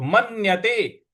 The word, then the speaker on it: मन्यते: उसके बाद है मन म के बाद जो आधा न है उस पर हमको आघात देना है तो मन्यते मन्यते मन्यते इस प्रकार